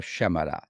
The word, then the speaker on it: Shyamala: of course not yeah the Y is silent and uh you have to put the stress a lot on the first aid so it's and